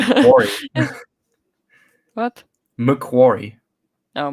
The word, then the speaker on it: McQuarrie: McQuarrie, Oh, Macquarie.